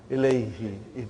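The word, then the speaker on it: إليه: So, hu became, now pronounced ilayhi.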